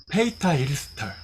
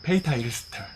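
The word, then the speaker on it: Peter Ilsted: 덴마크식 발음은 이렇더라고요. 페이타 일스터. 이렇게 읽더라고요. 페이타 일스터.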